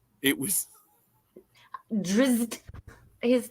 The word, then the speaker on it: Drizzt: Drizzt. His name is hard to pronounce. Drizzt. I think we should make the Z's like a insect buzzing sound.